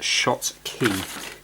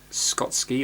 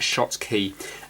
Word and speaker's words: Schottky: how to pronounce it it should be pronounced shots key because I didn't know how to pronounce it before yeah I was like Scott's key or something I'm not